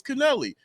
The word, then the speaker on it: Kennelly: I called my sister and asked her. I was like, how do you say that? It's Kennelly. I go up to him. I ask him. Yeah, it's Kennelly.